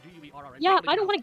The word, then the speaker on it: Guerra: It's properly pronounced Guerra, but you're a gringo, so we're not going to go.